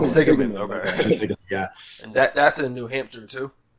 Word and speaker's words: Quinsigamond: And I went for, I think, maybe 2 semesters to that community college, which is pronounced Quinsigamond Community College. Quinsigamond, okay.